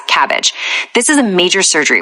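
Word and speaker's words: CABG: And fun fact, it's incredibly pronounced in hospitals as cabbage.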